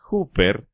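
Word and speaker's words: ὑπέρ: Karl Barth dijo en una ocasión que la palabra más importante en todo el Nuevo Testamento es una pequeña palabra griega que se pronuncia huper, que traducida del griego significa a nombre de o por alguien.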